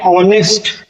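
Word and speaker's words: honest: हैं H silent है एन ऑनेस्ट H silent है ऑनेस्ट और मैन एन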